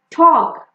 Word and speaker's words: talk: Like in walk, talk, you see A and K, so we will not pronounce this L. Talk, chalk, the L is silent.